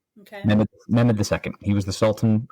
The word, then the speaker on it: Mehmed: I always forget how to pronounce that. Please, I mean no disrespect if I'm pronouncing it, but I think it's Mehmed, Mehmed. Okay. Mehmed II.